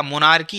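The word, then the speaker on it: monarchy: मोनार्की आप यहाँ पढ़ेंगे, मोनार्ची नहीं मोनार्की पढ़ेंगे, क्योंकि एच साइलेंट रहता है, ठीक है ना।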